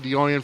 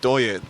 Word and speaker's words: Doyen: It's pronounced Doyen. Doyen. Don't hitch on it. Apostrophe. Okay, Doyen. Doyen.